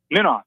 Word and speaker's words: Minoff: did I pronounce it right? Minoff, yeah.